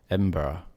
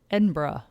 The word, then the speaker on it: Edinburgh: guess one what about the capital of scotland edinburgh edinburgh edinburgh yeah that's right so that one is spelled we learned that though when we were